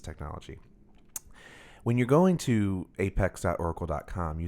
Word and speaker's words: APEX: not that it's not app 8x it's not yeah that's right it's not app acts as an application express its apex as in at the apex of a that's very important that's